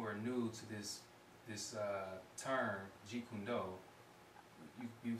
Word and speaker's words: Jeet Kune Do: And for those of you who are new to this term, Jeet Kune Do, you spell it as J-E-E-T-K-U-N-D-O.